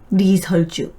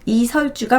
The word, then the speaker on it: 리설주: 리설주. 북한에서는 이 씨를 아직도 리라고 발음하기 때문에 리설주라고 하죠. 우리나라로 치면 이설주가 맞습니다.